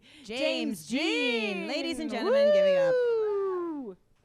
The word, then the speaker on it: James Jean: It's James Jean. It's not James Dean. Close. Not Norma Jean. No. James Jean.